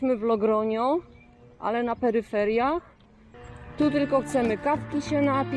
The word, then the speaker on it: Logroño: Ça s'écrit Logroño, mais les Espagnols me corrigent. Ils disent… Bon, il faut s'intégrer, non ? Logroño, Logroño.